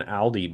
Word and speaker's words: Aldi: They're making Not Audi like the car company, no, no, Aldi no, like the grocery Aldi store. like the yeah that's Aldi. Yeah, I should pronounce it more correctly.